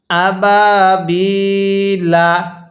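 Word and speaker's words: أبابيل: দেখতেছেন তারা বলবেন হ্যাঁ যদি আমরা এখন এখানে ওয়াকফ করি তাহলে লামের উপর এই জবরকে বাদ দিয়ে দিতে হবে তাহলে লামের উপর কি দিব সাকিন দিব কিভাবে পড়বো আবাবিল এখানে কিন্তু তিন আলিফ টান দিতে হবে একটি নিয়ম স্মরণ রাখবেন ওয়াও আলিফ ইয়া কি বললাম ওয়াও আলিফ ইয়া এর পরে যদি ওয়াকফ করা হয় তাহলে সেখানে তিন আলিফ টানতে হয় যেমন এখানে ইয়া এর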